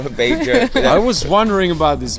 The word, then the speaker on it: Bager: No Badger, no Bager.